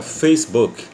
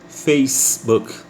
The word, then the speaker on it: Facebook: Face é Face fez como se fosse o verbo fazer no passado na terceira pessoa ele fez então a palavra fez então fica Facebook Facebook então sempre fez mais